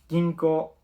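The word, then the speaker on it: ぎんこう: Al final tiene una U, pero no he dicho Ginkou, sino Ginko. ¿Por qué? Porque cuando hay una U detrás de una sílaba que acaba en O, suele ser más como una elongación de la O, más que una U tal cual.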